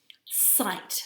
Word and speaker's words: sight: This one is sight. Let's say the sounds in it together. S-I-T. And we can hear that that's a long I sound. Let's say it again. S-I-T. Sight. Which are the tricky letters? G-H.